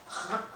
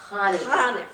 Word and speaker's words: Hanukkah: It's Hanukkah. Hanukkah. But you can say Hanukkah. I say Hanukkah, but it's a guttural It's a sound.